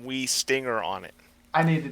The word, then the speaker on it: Wuistinger: It's Wuistinger, yes? No. No! It's German. You got to go E. Wii-stinger.